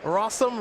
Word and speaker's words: Rossum: on Magic Online buy Rossum rhymes with awesome which I guess you